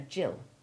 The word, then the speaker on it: gill: giraffe gist origin agitate note that the girl's name jillian and his abbreviation jill have the soft g as does the lovely old english liquid measure for a quarter or half a pint according to the type of fluid a jill it is half a pint